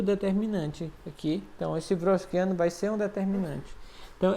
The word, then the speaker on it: Wronskiano: Wronskiano. Então, vamos supor que o nome que se pronuncia assim, tá?